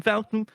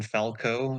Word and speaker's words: Falcon: he actually failed because he said Captain Falco it's Falcon listen I wanted to